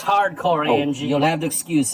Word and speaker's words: H.A.R.D.Corps: my 1990s valiant comic book collection hardcore it's pronounced hardcore amg you'll have to excuse him it gets